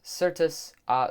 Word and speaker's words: certus: That's kind of why I pronounced that C as an S sound, I guess, because of certain.